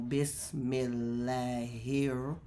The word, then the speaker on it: بسم الله: So I can say bis, and then I always put a dash in between, mil, or mel, bismil. So bismil. So Bismillah. Bismillah. Bismillah.